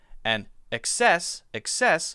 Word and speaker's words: excess: However, many people will say it as excess, excess, and so that difference will be access stresses the first syllable, and excess sometimes stresses the second syllable, da.